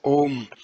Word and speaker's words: Om: The three letters A, U, and M, pronounced in combination as Om, are the generalized symbol of all possible sounds.